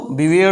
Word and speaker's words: beware: पापियों से सावधान रहो बवेर ऑफ सीनस ब ऑफ सीनस आर को हम यहां पर प्रंस नहीं करेंगे साइलेंट रखेंगे ब बवेर ऑफ सीनस बहुत हल्का सा आर का ये लेंगे भ्रष्टाचार भ्रष्टाचारी नेताओं से